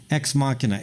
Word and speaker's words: Ex Machina: movie you know about Sergey Brin or something ex machina okay spelled X macchina x ma china x ma china that's how it's spelled but it's pronounced ex machina it's uh it's on X there you go